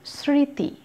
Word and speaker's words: স্মৃতি: তারপর আছে স্মৃতি, এখানেও একই ব্যাপার। তারপর আছে শ্মশান, মফলার উচ্চারণ কিন্তু নেই, শুধু একটু নাসিক্য উচ্চারণ হবে।